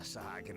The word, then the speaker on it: Sahagin: Oh, that's how you say that, Sahagin.